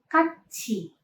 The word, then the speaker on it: 같이: Ini dilafalkannya 같이. 같이. Konsonan teeth di backing positions bertemu dengan vokal i, maka waktu melafalkannya bukan 같이, melainkan 같이.